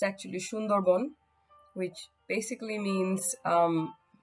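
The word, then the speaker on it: Sundarban: Bengali because I try and say the correct pronunciation um it's actually sundarbon which basically means um it's it's named after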